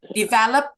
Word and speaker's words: develop: Stresnya ada di suku kata ke develop, kedua.